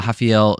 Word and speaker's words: Raffael: All right, Julius Walker taking on uh Hafael Cera. Pretty sure that's how you pronounce it is how they pronounced it.